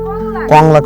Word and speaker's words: কংলাক: খায় না স্বাগতম কি পাহাড় ভাই কলঙ্ক পাহাড় কংলাক পাহাড় ভাই কঙ্কাল কংলাক আবার উচ্চারণ করেন কঙ্কাল পাহাড় কংলাক পাহাড় কলঙ্ক